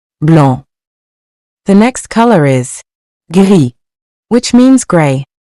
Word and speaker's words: gris: The next color is gris, which means gray. Remember that we don't pronounce the final S. For example, un pull gris means a gray sweater.